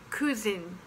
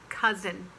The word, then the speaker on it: cousin: different but uh brother and cousin is not cuzin it's k cousin and then there's money yes it rhymes with funny and honey same as money